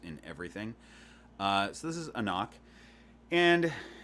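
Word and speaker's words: anCnoc: So this is Anok. Anok. You don't pronounce that C that's really big.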